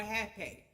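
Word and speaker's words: hapé: The next form of tobacco that will help you get in tune is called rape or half a. It's spelled R A P E with that little dash H and half A.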